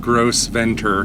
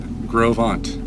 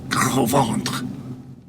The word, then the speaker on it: Gros Ventre: She said Gros Ventre, which I confirm with a local, Gros Ventre, which is very close to the French. You're just not doing the part. Gros Ventre.